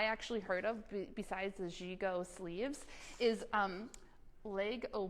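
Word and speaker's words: gigot: had this type of of sleeve called the zhigo sleeve it's spelled g-i-g-o-t g-go and it looks like this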